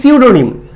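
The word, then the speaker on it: pseudonym: এবং মিনিংও আলাদা আচ্ছা আর সিউডোনিম pronunciation should be সিউডোনিম পি টা সাইলেন্ট থাকবে এর মানেই হচ্ছে ছদ্দনাম তাহলে অ্যানসার উইল বি সিউডোনিম আর সাইনোনিম মানে তো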